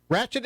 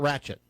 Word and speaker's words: Wratchet: Tell me about Wratchet. Well, Wratchet Entertainment was officially formalized around in 2019. Ratchet's it's spelled with a W.